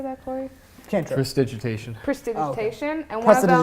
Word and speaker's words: Prestidigitation: Prestidigitation.